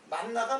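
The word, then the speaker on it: מן: 만나를 갖다가 그게 그 히브리 히브리 말로 하면은 이게 재미난데 이게 만이에요. 만 발음이 근데 이걸 갖다가 그냥 단 그 한 음절이 되니까는 좀 저거 해서 그냥 만나라고 한 거 같아. 내 생각에 만나라고 번역을 한 거 같아.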